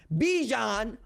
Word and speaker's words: Bijan: heisman ceremony invitation okay bijan rhymes with dijon because my man is